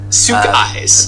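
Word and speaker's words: Sukie: it not so eyes it's Suk Suk eyes Suk eyes okay I got it imagine it's s o k at least that's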